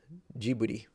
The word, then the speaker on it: Ghibli: Ghibli. Can never remember the pronunciation. Ghibli, I think it is.